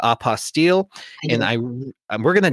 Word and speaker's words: apostille: available with opposite work i had to call it opposite otherwise it doesn't rhyme with unrestricted fees but i know you call it oppa steele and i we're going